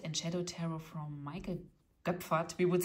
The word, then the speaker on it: Goepferd: We would say he is from Germany so or he was from Germany so I say his name in in German like oe is like an O with two dots above in German.